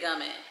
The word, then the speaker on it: Gumin: I don't know if it's gumming, but you know when it's Italian, gumine or whatever. Well, she said gumming.